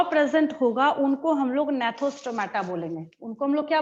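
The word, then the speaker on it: Gnathostomata: होगा, उनको हम लोग नेथोस्टोमाटा बोलेंगे। उनको हम लोग क्या बोलेंगे, नेथोस्टोमाटा बोलेंगे। और जिसके पास जॉ प्रेजेंट नहीं होगा उसको हम लोग एनेथा बोलेंगे। यहाँ पे क्या होता है, जी साइलेंट होता है, सेकंड वाले में भी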